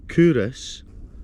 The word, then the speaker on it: Culross: Pronounced Culross, has been a royal borough since 1588.